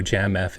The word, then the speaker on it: Jamf: that was discovered by jamf uh j-a-n by the way that's exactly how I pronounce it but I'm curious dude the people that work there call it Jam F jamf what what is that